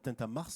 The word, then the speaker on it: Tintamarre: Alors j'insiste sur Tintamarre parce que c'est vraiment au mois de mars. Et comme je viens de Marseille, on prononce tout, nous. On dit tout, donc voilà.